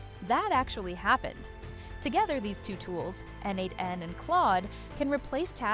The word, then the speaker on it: n8n: The first is NADEN pronounced N8.